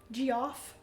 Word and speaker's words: Geoff: Geoff. That's me. It is pronounced like Jeff, but Jamie Foster Meeple started calling me that, so I'm stuck with it now.